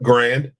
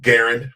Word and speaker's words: Garand: created which is the M1 Grand and um or Garand however you choose to pronounce it and um it's a